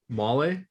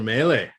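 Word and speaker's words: Mahle: pronounce these names as tyler how how does tyler say his name molly no it's tyler maylie oh melee oh mal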